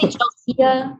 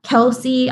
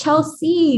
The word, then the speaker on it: Chelsea: Your first name is spelled like the way you sounded out, though. C, like the sea, like ocean. Yeah. They say Chelsea, Kelsey.